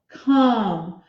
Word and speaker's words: come: have to remember that just because it doesn't make the oh say oh it's still a silent e on the hand so we have to have a fee but we won't hear it so um come come